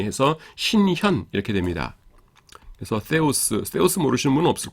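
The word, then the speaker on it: θεός: 그 다음에 theos 이렇게 됩니다. 그 theos인데 요게 th 발음인데요. th 발음인데 요게 the잖아요. the인데 그래서 이거 그 사람마다 때로 발음하시는 분이 있고 세로 발음하는 분이 있는데 때는 제가 볼 때는 좀 이상한 것 같아요. 그래서 저는 그냥 세로 합니다. 세로 합니다. 그러니까 때가 세에 가깝다고 해서 제 책엔 그냥 세로 표시해 놨어요.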